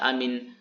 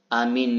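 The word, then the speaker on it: آمين: kitab-kitab mazhabnya itu bahwasanya membaca riwayat amin yang nomor 4 itu hanya dibaca panjang, mimnya dibaca tasydid itu keliru, kata Imam An-Nawawi.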